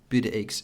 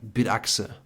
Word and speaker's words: Bitaxe: funny in Germany if you do talk about bit eggs most of the people and most of the resellers that I haven't corrected so far they pronounce it completely wrong it's like bit aa oh oh wow is this like some German